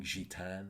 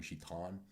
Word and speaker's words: Gitane: teach you that tune called swing sheet an or this Americans say swing sheet on and it's a really